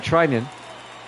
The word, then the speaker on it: Treinen: Yep, I pronounced it right. Treinen will come up.